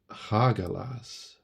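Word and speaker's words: Hagalaz: all about change trial and transformation and it's pronounced hagelas um so change trial and transformation like I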